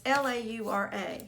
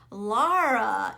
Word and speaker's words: Laura: been all my life when people say my name they always want us it's l-a-u-r-a but they always want to say laura well laura is l-o-r-a laura lara is l-a-u-r-a so it's just of